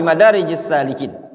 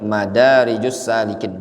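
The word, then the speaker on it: مدارج السالكين: Qala al-Imam Ibnul Qayyim rahimahullah ta'ala fi Madarijis Salikin. Al-Imam Ibnul Qayyim rahimahullah ta'ala menyebutkan dalam kitab Madarijus Salikin, itu bacanya Madarijus Salikin dikasih alif.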